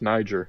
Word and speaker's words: Niger: is actually a place I think that's pronounced Niger it is it's in uh